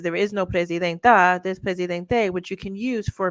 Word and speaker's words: presidente: Okay, presidente with an E at the end. That's how it's pronounced. It's presidente. but she has called herself presidenta, like making it like